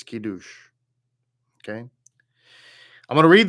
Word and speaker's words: Kiddush: Looks like Kadosh, but it's Kiddush.